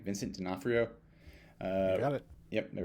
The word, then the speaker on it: Vincent D'Onofrio: Vincent D'Onofrio?